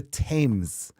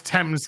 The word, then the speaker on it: Thames: The TV jingle is from the Thames.